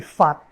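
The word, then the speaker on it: 發: émettre, fa en mandarin, en cantonais c'est fat. Quand on dit gong he fa choi, vous l'avez peut-être entendu avant, c'est fat, ça s'écrit toujours FAT, parce que vous avez cette consonne finale.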